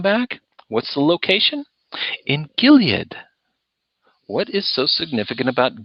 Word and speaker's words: Gilead: Orgill yeah he would you probably pronounced a Gilad Gilad which we had a moment